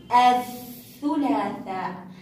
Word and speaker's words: الثلاثاء: لاحظوا عندما كتبنا مثلا الثلاثاء عندما كتبت لكم الثلاثاء يوم الثلاثاء لاحظوا صوتها أث، أث، لم يخرج صوت اللام، أث. هنا الأربعاء، الأربعاء، هنا الثلاثاء، الثلاثاء، لم يخرج صوت